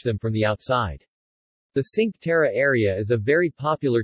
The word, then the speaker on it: Cinque Terre: the sink terra italian pronunciation tequitre ligurian cinque terre meaning five lands